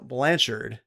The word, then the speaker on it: Blanchard: I have with me Miss Blanchard. Am I saying it right? Blanchard?